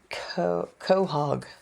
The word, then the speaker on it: quahog: had this appetizer called quahog quahog but it's not spelled like that at all it's spelled with the q-u-o-o that's all messed up yeah but it's